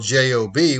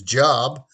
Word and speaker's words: Job: start with bible trivia why do we pronounce the word job as or was just spelled j-o-b which we say in english is job and i say my name is bob but here in the bible we pronounce it as job well if you go